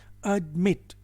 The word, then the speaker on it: admit: देखिए एडमिट क्या होता है, इसको लोग बोलते हैं एडमिट, ए नहीं है, अ है, एडमिट, एडमिट, एडमिट।